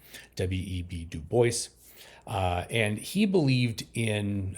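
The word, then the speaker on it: W. E. B. Du Bois: web Duo and that is actually how you pronounce his name web du Boyce uh and he believed in um as I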